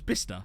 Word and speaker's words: Bicester: it's in essex you know it's it was bista um but it's pronounced it's spelt like bicester without the x